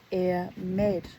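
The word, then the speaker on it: Airmid: that I didn't air mid of Nain is pronounced air med lover to Briaka Med is one of the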